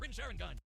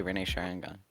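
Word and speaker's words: Rinne Sharingan: he awakened to the ring sharon gone some of these pronunciations are painful the ring's firing on it's not that hard to say renee sharangan and with the god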